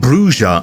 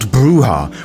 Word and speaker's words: Brujah: vampire roleplay you probably noticed that I am saying bruja and not bruha which is purely because to call them bruha is wrong if you open up